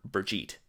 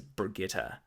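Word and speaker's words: Birgitte: looks like Brigitte so I was calling her Brigitte silver bow and of course I have later more recently learned that it is Brigitta and that seemed kind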